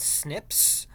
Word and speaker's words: SNP: these differences are called snips or single nucleotide polymorphisms so SNP is you pronounce that snips that's where your genome